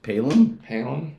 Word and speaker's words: Palom: Well, you might want to say his name correctly, but Matty Palom.